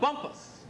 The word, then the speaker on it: Bumpass: down by Lake Anna small quaint town of Bumpus or as Pat in his wonderful ways of pronouncing pronouncing words says Bumpass well I looked into